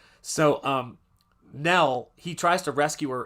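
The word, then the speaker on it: Knell: Although instead of spelling it ne L, her name is spelled K ne L, like death Nell. So, um, Nell, he tries to rescue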